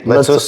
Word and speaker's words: Letsos: Is that how you pronounce it? Us at the end? Letsos.